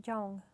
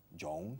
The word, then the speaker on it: young: My children are young. Jung, ¿qué es? Young. Eso suena a un psicólogo suizo, Carl Jung, right?